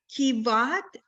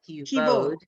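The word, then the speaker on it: כבוד: Kivad. It's an O vowel. Kivod.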